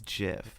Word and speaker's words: GIF: gif gif conversation and my pronunciation is jif because it's correct it's what the creator said it is like every argument i've heard goes oh but it stands for graphics so you don't say jif it's gif because okay